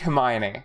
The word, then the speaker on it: Hermione: Um, it's like the same as doing like Hermi one, you know, for Hermione cuz who the pronounces it Hermione when it's spelled like that?